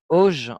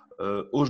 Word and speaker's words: Hauge: Il s'agit de Monsieur Auge, on va le prononcer comme ça, l'attaquant norvégien.